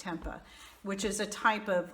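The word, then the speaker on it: tempeh: anyone pronounce that but I think it's pronounced Tempa which is a type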